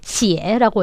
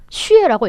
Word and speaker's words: 血: 얘가 이제 발음이 두 개입니다. 하나는 이렇게 제가 방금 전에 읽은 것처럼 이렇게 시에라고 읽기도 하고 또 하나는 이제 슈에라고 읽기도 해요.